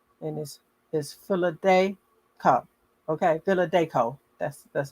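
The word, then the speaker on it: Philadanco: the philadelphia company and this is philadelphia okay villa deco that's that's how it's pronounced although dolores didn't get to have a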